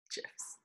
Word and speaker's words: GIF: Like it was gifts or gifts? Gifts. I was just clarifying that it was a hard G, not a soft J. Soft G. What? GIFs.